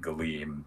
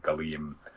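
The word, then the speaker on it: Gallim: you would pronounce it galim because it's g a l l i m so it might be a combination of the hard a and the soft a like galim but uh what that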